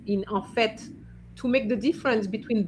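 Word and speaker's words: fait: Amina now you have yes you have to pronounce the t because it means in fact it's not it's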